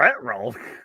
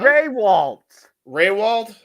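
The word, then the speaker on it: Rehwoldt: Retwold? Is that how you pronounce it? No? Raywald.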